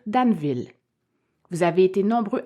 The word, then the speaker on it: Danville: à prononcé plusieurs fois le mot Danville alors que j'aurais plutôt dû dire daneville vous avez été nombreux